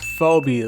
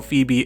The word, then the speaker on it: Phoebe: For my entire life, I pronounced her name as Phobe. Like Phobia cuz she's a ghost type trainer and all.